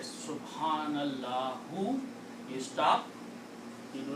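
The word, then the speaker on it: سبحان الله: Subhanallahu. You stop. You say Subhanallah. You do not pronounce the last letters harkat.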